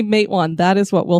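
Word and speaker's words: Matewan: it is it Matan or Matan we've always pronounced it mwan because a lot of the places around here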